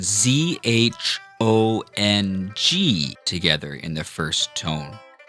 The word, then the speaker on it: zhong: That should be pronounced zhong. Again, we're not singing it, we're not holding it out for too long. We're just making sure that it's comfortably high in our natural speaking voice.